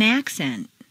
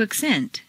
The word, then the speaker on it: accent: In the list below, change the stress from the first syllable for nouns to the second syllable for verbs. This is a regular, consistent change. Intonation is so powerful that you'll notice that when the stress changes, the pronunciation of the vowels do too. Repeat. An accent. To accent. A concert.